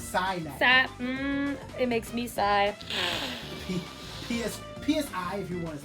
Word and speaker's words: PSI: It makes me sigh. PSI if you want to spell it out, but I just say side magnet.